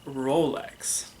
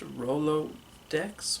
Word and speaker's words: Rolodex: hello there and welcome to the tutorial for Rolex wait a second this just in it's actually pronounced Rolodex well then scrap it scrap it scrap oh